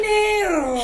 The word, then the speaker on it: Mineiro: And it's at Café Mineiro. Am I saying it right? Mineiro. They're going to kill me. Mineiro. All right. Mineiro. She has to roll her R's.